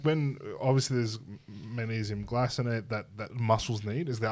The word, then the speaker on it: glycinate: When someone was to take magnesium that's not glycinate, Glycinate. glycinate. You're doing your K. It's a soft C.